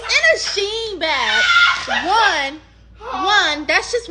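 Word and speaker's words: Shein: those that because some everyone pronounces Shen differently she said Sheen she me sheen sheen s h e i n that big huge former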